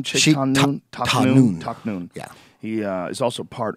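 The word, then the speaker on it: Tahnoon: Taknoon.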